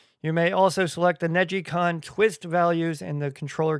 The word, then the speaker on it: NeGcon: I thought it was just Negcon, but it's Negicon.